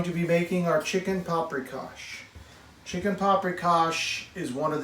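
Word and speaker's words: paprikás: like paprikas or gulas even though it's pronounced with an sh and they share in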